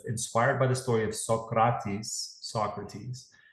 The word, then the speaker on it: Socrates: by the story of Socrates. That's how you pronounce it in Greek, because he was Greek.